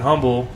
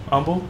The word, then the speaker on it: Humble: a cigar shop in humble humble humble what's the correct humble eight away from Texas you don't pronounce the H correct yeah humble in